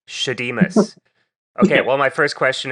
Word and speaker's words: Shadeemus: How do I pronounce the name of the group? So it's Shadeemus. Shadeemus.